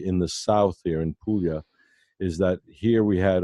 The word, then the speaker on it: Puglia: PU GLI yes announced Puglia as in million that book Lea okay